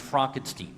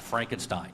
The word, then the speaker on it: Frankenstein: I was saying that Netflix debuted a new film last week by Benio Del Toro, but it should be pronounced Frankenstein, not Frankenstein.